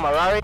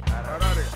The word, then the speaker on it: Harare: to say Harare after someone complained that I mispronounced it in a recent episode. So my name is and I'm from Harare. Harare.